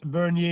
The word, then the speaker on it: Bernier: truth be told thank you Todd yes Max Bernier you it you know you did pronounce well my last name thank you very